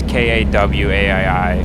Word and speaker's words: Kauai: Kauai? Yeah, I don't know how to pronounce it. But yeah. Now the one in South Carolina. That is Kauai. It's Kawaii.